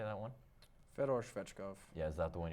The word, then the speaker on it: Fedor Svechkov: Fedor Svechkov.